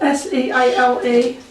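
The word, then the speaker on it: Seale: all that connection, and look at the way the name is spelled, S-E-A-L-E, Seal.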